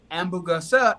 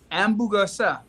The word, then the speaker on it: hamburguesa: Hamburguesa, that's hamburger. And then con queso is cheese. Hamburguesa. Yeah, it's like hamburger without the H.